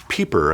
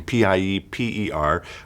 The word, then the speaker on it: Pieper: in my library by a gentleman named Joseph Pieper, I believe is how you say his name, Pieper, which is simply called A Guide to St.